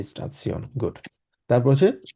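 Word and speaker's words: Station: স্টেশনকে ইংলিশে উচ্চারণের মানে বানানোর ক্ষেত্রে কিন্তু এক্স্যাক্টলি সেম, স্টেশন বলি আমরা, কিন্তু জার্মানি স্টেশন বলা হয় না, জার্মানিকে বলা হচ্ছে স্টাৎসিওন।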